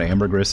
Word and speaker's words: ambergris: Everything says you're wrong about ambergris in English. Continue pronouncing the S and knowing it to be correct. I already forgot that I was supposedly pronouncing it incorrect.